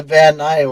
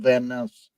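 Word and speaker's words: Van Ness: did some like local why do they pronounce a vanai when it's pronounced it's spelled vaness vaness vaness van vaness Avenue Van I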